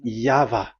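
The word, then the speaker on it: Yahweh: It is V. Y H VH. So it is Yava.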